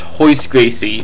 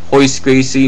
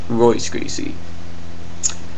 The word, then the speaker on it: Royce Gracie: and for future reference Gracie's name is pronounced hoist Gracie because he's Brazilian and I think a majority of of his um of the Gracie family that have RS and their names pronounced it with an H so remember it's hoist Gracie not Royce Gracie so just have that